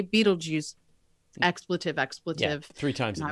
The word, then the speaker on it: Betelgeuse: was a teenager at the time over the pronunciation of Betelgeuse fatal guys however you want to pronounce it the dictionary says both are true and I wanted to say Beetlejuice expletive expletive three times I was yeah and